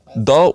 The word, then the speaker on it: the: Okay एवं द will be pronounced as अ द। जदि परवर्ती शब्द एक कॉन्सोनेंट सहित आरंभ हुए तो से जगह रे आमे द को द कहिताउ।